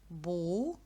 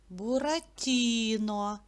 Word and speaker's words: Буратіно: поділимо його на склади Буратіно вірно скільки складів чотири А куди падає наголос в цьому слові на і Буратіно зробіть звуковий аналіз слово